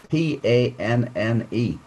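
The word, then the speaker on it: panne: it should be a space or a space p-a-n-n-e a pan which means breakdown so you will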